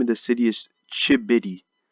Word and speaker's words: Chigbity: of the city is chip bitty so the G is silent just like in the